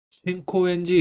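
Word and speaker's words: 新高円寺: 합쳐서 미나미 아사가야 미나미 아사가야라고 읽혀집니다 m 3은 신코엔지 있니다 일본은 발음을 읽으면 신코엔지입니다 그 한자 같은 경우는음 실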